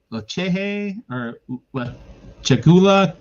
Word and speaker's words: Lechuguilla: Lechehe or Chagula Cave in Carlsbad, New Mexico. It's spelled Lechuguilla.